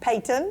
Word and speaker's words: Peyton: How do you say Peyton? Peyton. Woo! That's a hard T, Jackie.